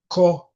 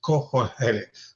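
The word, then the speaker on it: Qoheleth: The Hebrew name for the book is cohel. And let me spell it. Q o h e l e t h. Cole.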